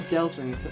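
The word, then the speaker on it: Delsin: And then finally, I believe it's finally, yep, you get Delson's, I am pronouncing his name right, it is Delson, yeah, Delson, I thought it was.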